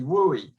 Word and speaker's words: WUE: usually, but answer C, WUE. So it's called the Western Undergraduate Exchange. Doesn't mean you need to wear a cowboy hat and boots, right? But it's pronounced WUE, WUE.